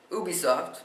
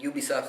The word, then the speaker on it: Ubisoft: But now, Ubisoft, I know I keep switching between Ubisoft and Ubisoft. Ubisoft's the technically correct way to say it, but, Ubisoft is saying that this is it.